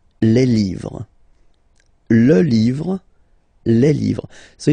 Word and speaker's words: livres: You just write livre, and then you put S at the end, but then you don't pronounce it. Les livres.